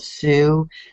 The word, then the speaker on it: Tsu: like October okay and it's called Sue but it's spelled TSU and I was a